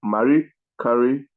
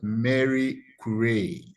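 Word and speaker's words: Marie Curie: encyclopedia britanica 2007 by encyclopedia ranica Incorporated uh Mari Curry is probably the most famous woman scientist who no the name is pronounced as Mary Cay okay Mary Cay is probably the most famous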